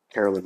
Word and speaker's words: Carolyn: Carolyn? Are we having a pre-production issue here? Yes, we are. I was not anticipating. Carolyn is her name? I believe so. Let me see. Carolyn rhymes with Marilyn.